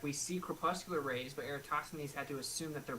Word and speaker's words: Eratosthenes: I don't know how to pronounce that. Pardon. Eratosthenes? Sorry, Eratosthenes.